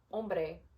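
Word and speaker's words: hombre: there's no accent mark this syllable is accented and I'm going to show you what it sounds like when it's when the other one is this is first how it's supposed to be sounded ombre om if accent second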